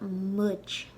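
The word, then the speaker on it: muid: I have the pronunciation there spelled like mudge, but it's like mudge, like in book.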